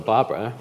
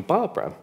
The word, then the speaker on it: Barbra: Oh, round of applause for Barbara.